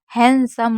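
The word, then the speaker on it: handsome: तो जैसे आपने देखा हैंडसम होता है। हैंडसम नहीं होता है। तो इसमें एन डी हमारा साइलेंट रहता है।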